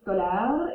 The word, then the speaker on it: scolaire: That kind of sounds like the word scholar or scholarly.